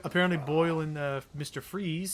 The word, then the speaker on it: Fries: is technically uh like it's of german origin it's supposed to be pronounced freeze however correct i don't